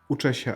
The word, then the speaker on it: Uczę się: Uczę się ACT.